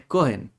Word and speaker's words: Cohen: Es Cohen, ¿ya? Es con el acento en la O.